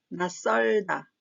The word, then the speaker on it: 낯설다: 마찬가지로 나의 치읓은 디귿 소리가 납니다. 또한 이 디귿은 뒤에 나오는 시옷과 자음과 자음이 만나면서 설이 뒷소리가 된 소리가 납니다. 그래서 낯설다, 낯설다 이렇게 소리를 내야 자연스럽습니다.